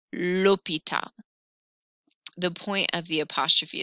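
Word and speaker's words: l'hôpital: lordinator la mi and that h is silent so i'm going to say lopita the point of the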